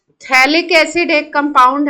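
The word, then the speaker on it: phthalic: थैलिक acid एक compound है। थैलिक acid होता है। COOH COOH अगल-बगल अगर रख जाए बेंजीन रिंग पे तो इसको बोलते हैं थैलिक एसिड। टीपी साइलेंट होता है।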